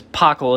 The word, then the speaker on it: Pockel: name is pockel that's how you say my last name is pockle it's spelled really yeah